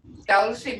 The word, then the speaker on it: Tulsa: Yeah, it's a what I call Creeklish, because they couldn't say Tulsa. So they would say Dulcie.